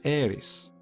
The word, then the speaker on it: Eris: pronounce her name was Aries which is actually not too dissimilar from the way we would pronounce the God of War Aries I'm sure there are